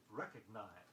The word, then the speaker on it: recognize: Don't slight the G sound in recognize.